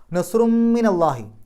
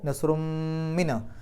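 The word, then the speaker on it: نصرٌ من الله: കൂട്ടി ഓതലാണ് ഏറ്റവും ഉത്തമം നസ്റും മിനല്ലാഹി അവിടെ നസ്റുൻ എന്നുള്ളിടത്ത് തൻവീൻ വന്നു ശേഷം മീം ആണ് മീമിന്റെ മുമ്പ് തൻവീൻ വന്നാൽ ആ തൻവീനിനെ മീമിലേക്ക് ലയിപ്പിക്കുക മണിക്കുക ഇത് അപ്പൊ നസ്റും മിന ആ മീമിന് ശദ് കൊടുത്തിട്ട് മണിക്കുന്ന പോലെ ചെയ്താൽ മതി മിനല്ലാഹി വ ഫത്ഹുൻ ഫത്ഹുൻ എന്നുള്ളിടത്ത്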